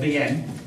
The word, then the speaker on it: Veeam: like this little guing official official pronunciation it's when it was formed uh was uh VM however a journalist mispronounced it called it them once and uh from